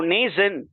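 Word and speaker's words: Mnason: M is silent. So Nathan, he is a native of the island of Cyprus.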